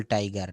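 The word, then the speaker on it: tiger: টাইগার আমরা বলি টাইগার টাইগার royal Bengal টাইগার নট টাইগার এটা উচ্চারণের শেষের আরটাকে বলা যাবে না টাইগার টাইগার টোটাল টল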